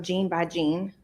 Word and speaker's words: Gene by Gene: Um, gene by gene. How do you spell that?